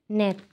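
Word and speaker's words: 넷: করছি আপনারা বুঝতে পারছেন আমি কেন লাস্টে ত উচ্চারণ করছি কারণ এটা রুলসে আছে যদি এই কনসোনেন্ট গুলো যদি লাস্ট কনসোনেন্টে থাকে যেটাকে বলা হয় মানে হচ্ছে এই যে এক দুই তিন এই যে লাস্ট কনসোনেন্ট যদি থাকে তাহলে সেটার উচ্চারণ টি এর মত হয়ে যাবে আমি আমার ভিডিওতে আমি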